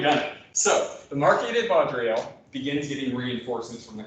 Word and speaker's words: Vaudreuil: i'm going to let you do the french pronunciations from here on out now you've done it so the marketed vodrio begins getting reinforcements from the continent now the